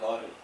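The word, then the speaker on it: lauryl: also known as Laurel it is pronounced as Laurel use as La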